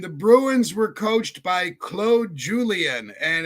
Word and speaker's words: Claude Julien: And the Bruins were coached by Claude Julien and it's spelled Claude but he's a Frenchman so we call him Claude.